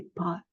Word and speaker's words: pâtes: et j'aime les pâes normalement on dit les pâtes on ouvre plus donc quand on a le son ouvert on prononce aussi un peu moins vite on va accentuer sur ce a parce que le temps d'ouvrir la bouche c'est un son qui dure plus longtemps donc j'aime les pâes